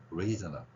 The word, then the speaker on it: reasonable: 강한 발음은 여기에 있습니다. 그래서 reasonable 여기를 세게 지금 발음하고 있는 거예요.